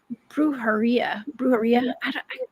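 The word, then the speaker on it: brujería: Brujeria. Am I pronouncing that right?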